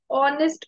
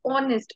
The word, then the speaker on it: honest: blank honest man now though it begins with a consonant we will still use an because it is honest over here o honest okay so that is